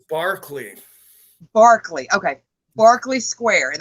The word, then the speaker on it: Berkeley: And it's not really reported on that much, and that would be the nameless thing at Blakely. It's actually pronounced Barclay.